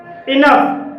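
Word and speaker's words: enough: तो इसे रफ बोलेंगे इनफ इनफ में ओ यू के बाद जी एच आया है और यहां जी एच का उच्चारण फा के लिए हुआ है इसलिए इसे इनफ बोलेंगे अब आप समझ गए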